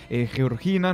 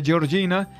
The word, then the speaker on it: Georgina: vida de la hermana Georgina. Nos han corregido también antes de ingresar al programa que no se pronuncia Georgina, sino Georgina, está mestizada, ¿no? Uh-huh. Nada de italiano.